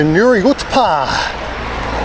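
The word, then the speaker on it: Nuriootpa: stop angerson welcome to Nuri UTA that's how you say it UTA bit like OA you know now there's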